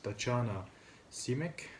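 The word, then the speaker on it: Tatjana Šimić: but it's uh actress tachana simek that's the way to pronounce it in dutch um she is mostly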